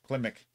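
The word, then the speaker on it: Klimek: scored by johnny kilmick kelvin how do you pronounce that well if you spelled it right it says climic oh there you go klimik uh budget of 190 million and we're currently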